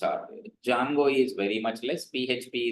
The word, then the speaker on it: Django: Then Django don't call it as Django it is Django pronounce it as Django which is Python framework.